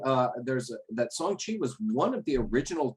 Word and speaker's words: Shang-Chi: Shang-Chi, pronounced Shang-Chi, maybe more Shang-Chi.